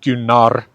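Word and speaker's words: Gunnar: it's a woman's name gunar is a man's name with the a in the second syllable uh so it's probably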